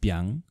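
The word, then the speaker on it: 𰻞: of you have seen this character it is pronounced Byung and it is the name of a type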